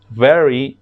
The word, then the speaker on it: very: este caso cuando decimos I am very good no te sé que ahí hacemos la sonido de la abejita Ok hay very good es la manera correcta Ok de pronunciarlo para que así tengan